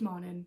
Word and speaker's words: Mannin: Is that how you pronounce her name? It's Mannin, not Mannon.